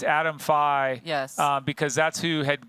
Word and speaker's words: Fye: Hi, Fye, Adam Fye.